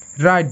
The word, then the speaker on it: write: রাইট, WRITE, রাইট। প্রতি ক্ষেত্রে W silent, ওকে।